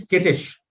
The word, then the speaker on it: skittish: i s h oh you cannot pronounce this as s i it is s k what do you pronounce s k as skirm right so it is skittish skittish okay this means